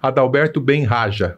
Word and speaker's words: Adalberto Bem Haja: estamos recebendo CEO da CT Hub mentor palestrante Adalberto Ben Raja pronunci correto corretíssimo Muito obrigado sua presença aqui tá